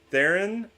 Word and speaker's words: Theron: Theron rhymes with Karen or Sharon or Darren.